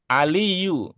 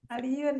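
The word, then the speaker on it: عليٌّ: Apa pertimbangannya u tidak pakai tanwin aliyun? Apa pertimbangannya? Lupa. Iya. Salah, Pak Guru. Ini kita luar biasa ya. Salah juga kita pertimbangkan ya. Kalau kalau salah saja bisa kita pertimbangkan berarti apalagi benar gitu ya. Gu aliun ya harusnya.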